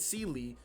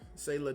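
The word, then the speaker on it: Seele: Because this means that her and Seely, or Sela, or Sayla, depending on how you pronounce her name, are best friends.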